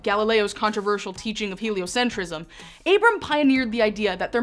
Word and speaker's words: Abram: All of a sudden, the Bible stops talking about all of humanity and focuses in on this guy, Abram. Yes, I said it right.